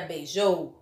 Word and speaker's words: beijou: é bem beijo ou na palavra beijou qual é a sílaba mais forte que têm maior intensidade ó atenção a pronúncia beijou o show então joe ele vem beijou ele é a sílaba mais forte portanto dizemos que o joe é a sílaba tônica da palavra a próxima palavra é momento momento